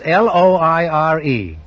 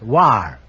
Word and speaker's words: Loire: The correct answer is Loire. Pronounced war, they tell me.